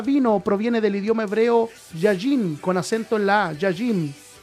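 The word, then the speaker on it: יין: alianza la palabra vino proviene del idioma hebreo yayin con acento en la yayim Define uva fermentada mosto o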